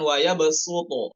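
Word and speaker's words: ويبسط: Kemudian pada nomor 4 dibacanya bukan pakai sod ya, di Al-Baqarah 245 itu bukan waya besuto, bukan pakai sod, bukan pakai sod, maaf ya, bukan pakai sod, namun pakai sin.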